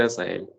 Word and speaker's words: Hazael: Hazael. O Azael. Sí, presente, doctor, buenos días. ¿Cómo se dice tu nombre, doctor? Se dice Azael.